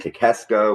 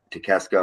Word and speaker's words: Takeshita: But Takeshita applies the guillotine and hits a raging fire, and Takeshita retains. I'm saying his name wrong. How do you say his last name? Takechna. Takeshna? Yeah. Okay, well, Takeshna retains.